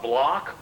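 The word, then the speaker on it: Bloch: The block wall, which is spelled B-L-O-C-H, is this null zone, like the doldrums of the equator.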